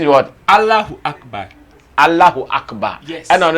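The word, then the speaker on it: الله أكبر: Is that the correct pronunciation? Is what? Allahu Akbar.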